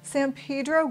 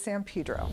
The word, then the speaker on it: San Pedro: Most people coming into the area call it San Pedro, which is the correct pronunciation, but for locals, it is San Pedro.